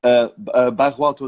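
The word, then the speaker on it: Bairro Alto: And you're in the, sorry if I pronounce this wrong, the Barro Alto Hotel? Barro Alto Hotel, yes.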